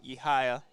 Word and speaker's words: Yehaya: By the way, the correct pronunciation is Yehaya.